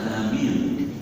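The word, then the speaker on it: آمين: Bacaan amin dengan memanjangkannya dan takbir tanpa tasdid dalam seluruh riwayat bahkan seluruh hari qiraat bacanya amin. Disepakati baik ahli qiraat maupun ahli hadis. Bacaan amin yang diakui dapat diterima adalah dengan amin, artinya terimalah doa kami. Hanya alifnya minnya banyak.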